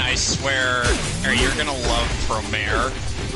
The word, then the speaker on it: Promare: See, now I have to correct the pronunciation, because it's not Promare, it's Promare.